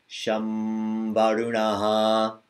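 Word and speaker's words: शं वरुणः: The second one, because va comes from your lips, ma also comes from your lips. So, shambarunaha.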